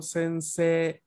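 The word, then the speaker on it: せんせい: y como podrán escuchar, yo leo sensei una E larga al final. La I, a pesar de que esté escrita en romaji, no la pronuncio, porque esta I que veo yo aquí está básicamente como indicador para recordarme que la E anterior se lee larga.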